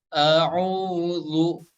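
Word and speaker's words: أعوذ: Tapi jika huruf dzal yaitu nempel ke ujung gigi serinya ya. Za. Nah, kurang lebih seperti itu ya. Jadi cara bacanya a'udzu. Nah, seperti itu ya.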